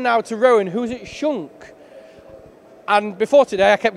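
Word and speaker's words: Schunk: to move on now to Rowan who's it Shunk and before today I kept getting that name wrong because I kept saying it wrong so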